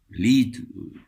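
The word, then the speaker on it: Lied: para una sola voz yo estoy diciendo la palabra literal como está escrita pero los eruditos en música la pronuncian de otra manera lid del alemán vemos lo utilizamos todos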